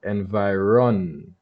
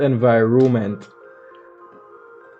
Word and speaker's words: environment: of us in the caribbean and the correct pronunciation of the word is actually environment so that's n fi ron meant right it's not environment like most people pronounce it so we'll add